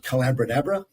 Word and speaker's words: Collabradabra: I mean, the book's called Collabradabra, rhymes with abracadabra.